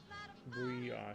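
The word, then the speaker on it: brie: I drink it with um it's pronounced bree.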